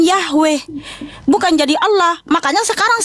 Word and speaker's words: Yahweh: Mesianik Arab, Mesianik Belanda, Mesianik Jerman, Mesianik Amerika, mau seluruh dunia ini tetap memanggil namanya Yod-Heh-Vah-Weh yang dilafalkan Yahweh, bukan jadi Allah.